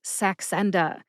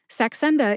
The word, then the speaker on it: Saxenda: They are sax, like a saxophone, the musical instrument, N, like the letter N in the alphabet, and duh, which is an interjection we use here in